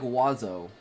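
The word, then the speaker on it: oiseau: And none of the letters sound like they should. Hits every vowel in the French alphabet and is pronounced with two. Oo. Is it oo or is it It's pronounced like wazo. Wazo.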